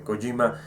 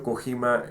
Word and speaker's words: Kojima: juego de kojima y disculpen por haber dicho cojímar en todo el vídeo es colima yo sé la pronunciación correcta lo más cercano y japoneses kojima no con no kojima es kojima creo que es kojima pero bueno yo